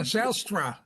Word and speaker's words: Zijlstra: Yeah, Zijlstra is the difficult pronunciation. I'm from the Netherlands, and my family came originally from the province of Friesland. So it's a real Frisian name.